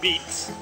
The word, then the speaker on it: VIPS: the star we're in veps now which is like uh Denny's in fact if you translate beep V or B as they pronounce it beeps in uh Mexico translates